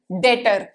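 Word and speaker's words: debtor: मेरे लिए हो गई डेटर क्या हो गई डेट यहां पर बीच साइलेंट होता है रिमेंबर्ड थे डाटा मींस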